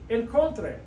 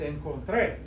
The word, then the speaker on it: encontré: It violates that rule because it should be pronounced encontré. Encontré, you should be stressing this O, but it's encontré.